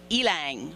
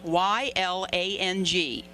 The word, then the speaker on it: ylang: I even had to look it up to find out how to pronounce it. It's ylang, Y-L-A-N-G, ylang.